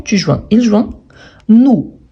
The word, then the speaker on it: joint: Et en sachant que normalement, les dernières consonnes, on ne les prononce pas. Donc, j'ai joint, tu joins, il joint.